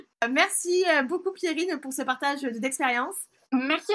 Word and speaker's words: Pierrine: Et mon prénom, Pierrine, _MLR.